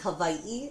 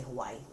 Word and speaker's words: Hawaii: so um I think the proper way to say it is Hawaii it's kind of like a V sound oh Hawaii but you know a lot of people just say Hawaii is that where you